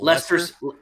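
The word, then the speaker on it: Leicester: Buster Douglas is a horrible said it's called like Lester. Do they pronounce it? Lester Lester City.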